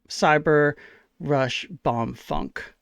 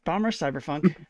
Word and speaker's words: Bomb Rush Cyberfunk: As a comparison, this Steam review about the same amount of reviews as Cyber Rush Bomb Funk.